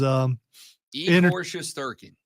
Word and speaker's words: Igor Shesterkin: I was trying to get the pronunciation down, and the way you say it is Igor Shesterkin.